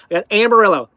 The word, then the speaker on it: Amarillo: The Big Texan thing in Amarillo, not Amarillo, Amarillo. I keep saying it wrong. Amarillo.